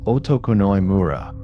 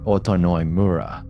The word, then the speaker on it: Otokunoi-mura: very time living in a village called Otokunoi-mura, probably pronounced Otonoi-mura.